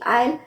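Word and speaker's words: aisle: आई एस एल ई इनका pronunciation दोनों का प्रोनंसिएशन लगभग सेम है आयल आयल ए आई एस एल ई आयल जो कली होती है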